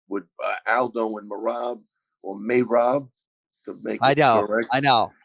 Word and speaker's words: Merab: just ruined them yeah it was easier making the fix from uh belal to balau right this is like a totally different sound from marab to may rob you know but uh